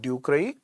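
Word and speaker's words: ducreyi: shankaroid is by hemophilus ducray we pronounced it as patients do cry that means it is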